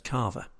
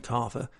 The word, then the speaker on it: kava: The final thing I want to say about Vanuatu is the substance known as kava. This is not in any way related to the French sparkling wine of the same pronunciation, but rather it's a